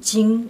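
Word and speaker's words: 經: chinois on pense à un terme qui se prononce thing en chinois moderne et qui s'écrit avec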